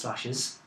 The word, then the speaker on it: Slashes: language which I presume is called it is pronounced slashes it's its title is not the most fanciful